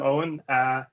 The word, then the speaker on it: Eoin: So to start with my name, yeah, so I'm Owen. About the spelling, yeah, so that's the Irish spelling of the name.